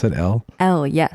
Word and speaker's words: Elle: Is that how they pronounce it? Elle? Elle, yes. Elle.